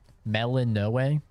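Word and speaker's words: Melinoë: I think I like Melinoe. Like, that's how you say her name.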